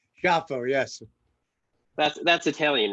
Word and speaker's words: Schiaffo: Did I pronounce that right? Giaffo, yes.